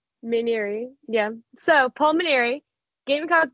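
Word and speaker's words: Mainieri: like a minute late to the call actually mineri mineri yeah so Paul mineri gamec baseball you know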